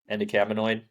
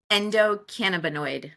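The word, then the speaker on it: endocannabinoid: you say it yeah you almost got it endoc camid Endo cannaboid cannaboid yes there you go um I mean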